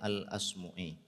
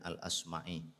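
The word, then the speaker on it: الأصمعي: Nah, para santri sekalian, di pagi hari ini saya ingin kutipkan satu pernyataan dari seorang ulama kita yang namanya Al-Asmu'i. Ada yang membacanya dengan Al-Asma'i.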